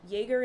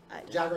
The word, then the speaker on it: Jagger: Jagger and Jones. It is Jagger and Jones? Yup. Oh, okay. Well, oh, yeah, because it's spelled like Mick Jagger.